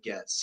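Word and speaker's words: Gaetz: Matt gets get gets I think his name is pronounced gets yeah it's gets he was nominated for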